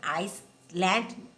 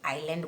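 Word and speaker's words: island: या आइसलैंड उसको बोलते हैं हम लोग, आइलैंड, ओके। ऐसे पर एस को हमें प्रोनाउंस नहीं करना है, ओके, आइलैंड बोलना है।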